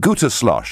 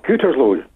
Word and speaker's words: Gütersloh: Is it Gütersloh? Is that how I pronounce it, John? It's Gütersloh. OK, well, I got that wrong.